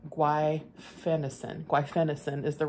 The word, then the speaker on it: guaifenesin: And one of the doctors suggested that I start taking, let me pronounce it right, guaifenesin.